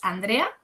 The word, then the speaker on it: Andrea: Well, as you know, my name is Andrea. That is how you pronounce in Spanish.